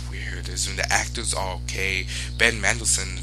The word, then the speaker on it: Ben Mendelsohn: Ben Mendelsohn, that's how you say his name, great actor.